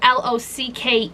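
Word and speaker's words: Locke: Technically this is spelled with l o c k e, but it still counts because it's still pronounced as lock.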